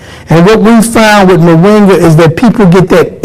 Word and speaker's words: moringa: John, how did you happen to come up, find this moringa? Well, am I saying it right? You're saying it right, moringa.